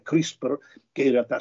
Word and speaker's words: CRISPR: Allora, Anna, io ti tolgo subito dall'imbarazzo di decifrare questa sigla, questo acronimo pressoché impronunciabile, CRISPR, che in realtà si pronuncia CRISPR, mettendoci una piccola E prima della R finale, che vuol dire niente